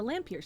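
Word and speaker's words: Lampyr: These are called lampier sprites. It's spelled L A M P Y R space sprite. It's a lampier sprite.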